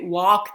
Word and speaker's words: walk: Ok, walk the dog. Portare a spasso il cane. Beh, perfetto. Walk, mi raccomando, si scrive con la L non si legge.